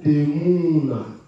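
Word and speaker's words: תמונה: Lorsqu'on vient ici, en hébreu, ça c'est un shuruk, donc c'est un ou. C'est un ou qui est, c'est-à-dire qui est prononcé. Bon, c'est un ou long. Voilà. Donc, ça va donner Temuna.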